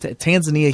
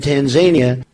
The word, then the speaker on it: Tanzania: So if you look at Tanzania, it's just you're reading it the way you're saying it phonetically the way it's spelled, but the emphasis is on the wrong syllable.